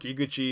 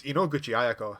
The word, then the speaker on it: Inoguchi: ever want to book iguchi ayako for a job oh no it's actually i've been saying her name wrong it's inoguchi forgive me sorry i